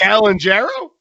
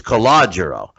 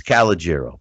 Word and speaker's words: Calogero: Calangero? It's in Italy, it's Calogero. But here, but in the States, it's Calogero. But you were close. Giro. So it almost has, so the E comes out at the end.